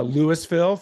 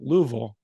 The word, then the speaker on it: Louisville: called Louisville Kentucky uh Lewisville for those of you that are uninformed don't ever say that to someone from Kentucky specifically from Louisville uh it's basically pronounced Lou like l-e-w Vol v-u-l Louisville that's that's how you